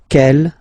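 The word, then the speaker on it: quelle: same way and then the feminine form is written like that q l l but it's pronounced like the masculine form k at the masculine Kell at the feminine okay so it's basically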